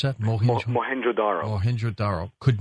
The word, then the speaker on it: Mohenjo-Daro: He has said that the melting bricks at this town you just mentioned, how do you pronounce that? Mohenjo-Daro.